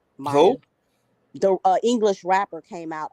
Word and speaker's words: Maya: it comes to JayZ Maya Maya Mia yeah that's how you say her name Maya the English rapper came